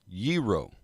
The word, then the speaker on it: gyro: There's no hard G. Yeet. Gyro.